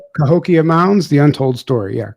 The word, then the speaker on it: Cahokia: Um and then the documentary which I saw which I didn't even know about co how do you pronounce that? Cahokia mounds the untold story. Yeah. Cahokia.